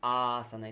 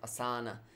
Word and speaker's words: āsana: It's asana, it's not asana, like some people used to pronounce, but it's Dandasana.